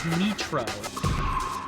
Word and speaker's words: Nitro: called nro but she it's spelled like Nitro her her name is spelled n t r o but they all say it's nro like what do you